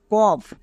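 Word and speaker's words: cough: জন্য ঘো উচ্চারণ হবে না এর জন্য ফ উচ্চারণ হবে তাহলে কি দাঁড়াবে কফ সি ও ইউ জি এইচ কফ মনে থাকবে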